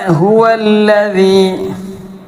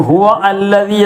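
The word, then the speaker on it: هُوَ الَّذِي: ഇവിടെ ഹുവല്ലദീ, ഹുവല്ലദീ, ഹുവല്ല, ഹുവല്ലദീ, ഹുവല്ലദീ അതിൻ്റെ അടിയിൽ ഹംസത്തുൽ വസ്ല് ചേർത്തി വായിക്കുമ്പോൾ അത് ഉച്ചാരണത്തിൽ കൊണ്ടുവരരുത്. ഹുവ അല്ലദീ എന്ന് പറയരുത്.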